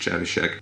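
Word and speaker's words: Trzewiczek: I'm kidding, I know his name is pronounced Chevishek.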